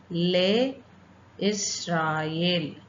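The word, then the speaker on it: לישראל: அதுக்கப்புறம் தோ லே இஸ்ராயேல், லே இஸ் இங்கே இதில் இப்போ ஃபஸ்ட்டு ஷெவாவை நம்ம ப்ரொனவுன்ஸ் பண்ணணும். இந்த ஷெவா வந்து இந்த இடத்துல வரும்போது, அதாவது அதனோட மிடில் வரும்போது இந்த ஷெவாவை வந்து நம்ம ரீட் பண்ணக்கூடாது. அப்போ லே இஷ் ரா இஸ் ஓகேவா? இஷ் கிடையாது, லே இஸ் ராயேல்.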